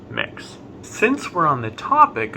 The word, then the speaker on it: Mx: use the honorific mix that's mx pronounced mix since we're on the